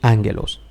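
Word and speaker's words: ἄγγελος: decir ángulos vemos que la primera gama como está delante de otra gama que es cultural se pronuncia como n nasal entonces pronunciaremos ángelos la axila un se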